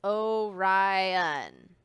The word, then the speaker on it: Orion: name is Orion you say it like this Orion he can be seen in the cold months